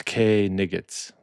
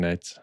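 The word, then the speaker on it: knights: Uh it's K nigs. That's what he calls him, but he's just mispronouncing nights.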